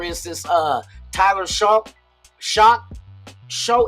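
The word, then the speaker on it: Shough: Show is I swear it's spelled show. O U G H is just like do. You know what I mean? Show. Tyler show.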